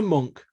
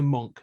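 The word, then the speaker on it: Munck: Monk, we leave this behind in your capable hands.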